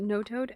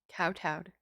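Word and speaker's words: kowtow: how you say that i always pronounce it no toad and that that's not it google sensei i need your help help me google sensei alright i gotta switch these then this and that cow towed what no cow towed are you serious no that can't be right pronounce no no way oh my god it really is that is honestly how you say it so i've been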